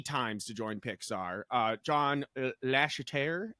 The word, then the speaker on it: Lasseter: John Lasseter, how do you say it, Deshaun? Yeah, Lasseter.